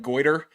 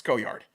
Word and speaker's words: Goyard: don't really love that you pronounced goyard like goer like that that's not really what I'm looking for how would you pronounce it goyard it's goyard it's like Gogurt it's goyard it's not goard goyard oh I'm going